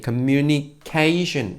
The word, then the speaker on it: 커뮤니케이션: 한국말도 있는데 한국말 안하고 그냥 이번 써 버립니다 커뮤니케이션이 5 영어로 커뮤니케이션 이라고 해요 똑같아요 커뮤니케이션 이지만 담 탄지 리듬이 게 금 유니 k 슌 이렇게 발음 해줍니다 한번 따라해 볼까요 근면 2k 슌